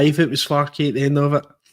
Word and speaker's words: Farke: Farke. There's an E at the end.